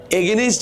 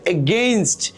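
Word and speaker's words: against: বিরুদ্ধে মানে কি, যদি এটাকে আমরা এগেনস্ট বলে থাকি অনেক সময় ভুলে, এটা হচ্ছে এগেইনস্ট, এটা উচ্চারণ হবে কি এগেইনস্ট।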